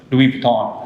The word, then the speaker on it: Louis Vuitton: items and experiences online for example like luis louis vuitton yeah i don't know if i pronounce it right hopefully i did my favorite